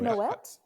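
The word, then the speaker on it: Moët: I'll get some Moe. I'll get some Moe. It's a Moe, yeah. You get I some Moe. It's pronounced Moet. It's Moet. It's pronounced mum.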